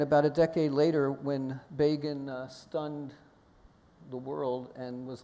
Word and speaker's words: Begin: And about a decade later, when Begin stunned the world and was elected prime minister, Time magazine famously or infamously, when they mentioned his name the first time, wrote Begin rhymes with Fagin, referring to the anti-Semitic Dickens character.